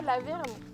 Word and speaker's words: La Vernaz: Bah déjà la verne. Ouais, ça s'écrit la verna.